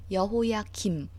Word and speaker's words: 여호야김: 여기서 발음이 좀 비슷한데 여호야김, 미음 받침의 왕이 먼저고요. 여호야긴, 그 다음 니은 받침이 두 번째예요. 여호야김, 여호야긴 이렇게 할 때 여호야김, 김씨 할 때 그 김, 미음 받침 먼저고 여호야긴, 니은 받침이 그 나중이에요.